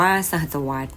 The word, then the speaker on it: สหัสวรรษ: แต่ ค.ศ 2001 ถึง สหัสวรรษ อ่าน ว่า สหัสวรรษ หมาย ถึง ช่วง เวลา